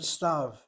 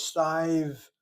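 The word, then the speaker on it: סתיו: And if I didn't know any better, I pronounce the word as stive, giving a y to the yud sound.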